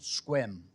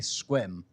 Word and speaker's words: Sequim: is this little town called squim and it is spelled Sequim but like Soho and south of hon in New York if you know it it's actually squim it's a pronunciation thing and that's in the